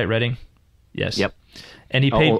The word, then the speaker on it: Reading: Dyson was now lecturer in English literature at Reading University. Did I say that right, Reading? Yes. Yep. And he paid... Although I will point out, it's Magdalen. It's spelt Magdalen, but it's pronounced Magdalen College.